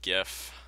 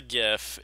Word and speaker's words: GIF: It was like a animated GIF. I know it's supposed to be pronounced GIF, but seriously. GIF is peanut butter. I'm not gonna call it freaking peanut butter.